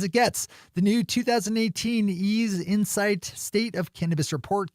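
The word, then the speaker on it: Eaze: Ease has had a very busy week this week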